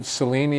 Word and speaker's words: Cellini: So now you've mentioned this alum, Richard Cellini is how That's you pronounce right.